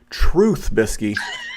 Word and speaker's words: Trubisky: pronounce his name correctly it's truth truth bisky as in that man is finally the truth um my high dollar